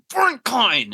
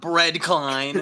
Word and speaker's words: Brent Klein: My name is Brent Klein. I mean, not Bread Klein.